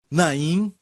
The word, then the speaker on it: Naim: se chama na impor que em hebraico se pronuncia na em que termina com m certo então naím esta cidade e foi a cidade que eu